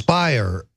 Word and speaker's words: Speier: is congresswoman Jackie speier so Spire rhymes with liar this is this is